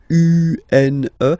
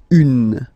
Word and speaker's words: une: Then the feminine article is here, and it's easier because if you have this U-N-E, then you pronounce it une, okay? Masculine, un, feminine form, une.